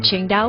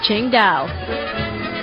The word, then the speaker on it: Qingdao: build a brewery too while it's spelled differently it's pronounced the same way the city is pronounced Shang da we visited